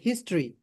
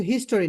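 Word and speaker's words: history: হ্যাঁ, তারপর আমি ইতিহাস সম্পর্কে পড়ি, আই রিড, আমি পড়ি, অ্যাবাউট হিস্ট্রি। এটা কিন্তু হিস্টোরি না, এটা হচ্ছে হিস্ট্রি, উচ্চারণটা হচ্ছে হিস্ট্রি, অর্থ হচ্ছে ইতিহাস।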